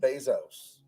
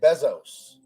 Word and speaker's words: Bezos: any of this is finding out that his name is pronounced bezos i say bezos i don't like this bezos this sounds weird that's my whole issue